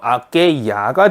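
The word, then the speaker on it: aquella: 네, 아켈도 아가 붙는데 엘레가 하나 더 붙어서 아케이아가 됩니다.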